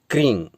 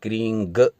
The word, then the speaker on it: क्रीं: बाद जो बिंदी है, जिसका कई लोग क्रीम उच्चारण करते हैं, क्रींग कई लोग उच्चारण करते हैं, लेकिन हम आपको सलाह देंगे कि प्रारंभ में आप या हमेशा ही आप इसमें ग और म का उच्चारण न करके केवल इस बिंदी का ही उच्चारण करें, यानी क्रीं क्रीं क्रीं, यानी इसमें क्रींग ग न जोड़ें या क्रीं म न जोड़ें, यानी क्रीं इस बिंदी